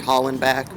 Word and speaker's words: Hollenbeck: I'm approaching the the um uh Helen Helen back or Holland back I believe that's pronounced Holland back we're here to do